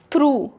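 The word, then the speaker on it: through: Daughter थ्रू यह you vowel है।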